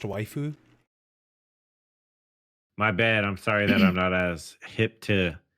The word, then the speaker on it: waifu: I believe it's pronounced waifu.